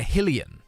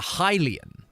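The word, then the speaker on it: Hylian: Uh when I talked about being a Helian rather than a Hilian, which I I don't think that's a British ism. I just think there are two ways of pronouncing it.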